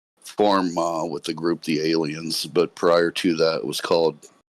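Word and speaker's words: allein: It was, I believe, pronounced alien. It was just with a second L in it, but it was the German word for alone.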